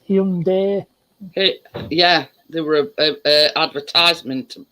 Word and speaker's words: Hyundai: Actually, we've been pronouncing it wrong. It's Hyundai.